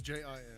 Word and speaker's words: Jin: It's Jin, yeah. But it is It's pronounced like Gene, yes.